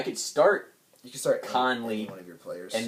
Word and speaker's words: Conley: wrong again that's fine connolly it's conley not connolly you're saying there's you're putting a syllable after the end it's connolly no khan we say two separate conley there you go all